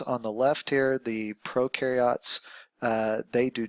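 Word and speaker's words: prokaryote: you think about it U rhymes with do and pro rhymes with no so the ones on the left here the pro carots uh they do not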